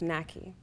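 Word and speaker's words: Narki: So my name is actually spelled N-A-R-K-I. Okay. It's still pronounced NAKI.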